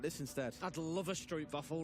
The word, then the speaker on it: stroopwafel: I'd love a stroopwafel right now. Oh, How was my pronunciation on?